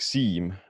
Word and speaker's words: Siim: Well, it's more like seam, like a Siim. prolonged eyes. Okay. So Siim.